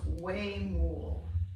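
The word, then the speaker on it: huemul: had a photograph okay they're telling me it's pronounced way more w-e-y-m-o-l way more all right thank you you're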